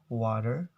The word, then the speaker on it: water: In Americans, they usually pronounce this word as water, water. So the T sounds become D, water.